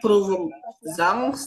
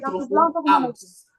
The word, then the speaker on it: Prüfungsangst: Jadi dibacanya bukan Provung Zangs, tapi Provung Angs.